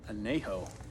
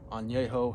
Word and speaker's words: Añejo: And it's the Arturo Fuente Anejo, or Añejo, however you want to pronounce it.